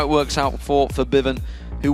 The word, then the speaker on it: Febiven: it works out for Febiven, who we have been told to pronounce it that way, by the way, if anyone's wondering why we've changed it from Febiven to Febiven.